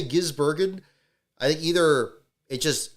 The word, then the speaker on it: Gisbergen: I for my trick with Shane, besides just calling him Shane, is emphasizing the E, where it's probably Gisbergen is probably the proper way to do it.